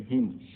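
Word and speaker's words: hymn: है तो साइलेंट से हिम। ठीक है, हिम में N साइलेंट है, भजन।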